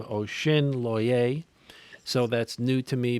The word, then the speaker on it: Osinloye: to Nigerian roots and determined that the correct pronunciation is Osinloye. So as originally, I, I certainly and my Nigerian family cleared that up for us. So we were saying Osinloye for the first time, years of my life